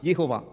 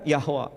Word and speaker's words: Yehovah: Sementara bahasa Ibrani, pronunciation-nya Yod, He, Vav, He, Yehovah. Yehovah, kadang Yahweh.